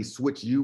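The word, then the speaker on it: SwychU: Feel free to go look up the company SwitchU, which is our parent company, and it's spelled S-W-Y-C-H and a letter U, and you'll see we have an A rating with the Better Business Bureau.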